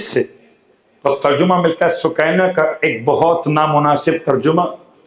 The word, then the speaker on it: سکینہ: تھا سکینہ۔ مقاتل کے الفاظ کے لحاظ سے تلفظ پڑھا سکینہ۔ جب لفظ سکینہ استعمال کیا جائے تو لوگ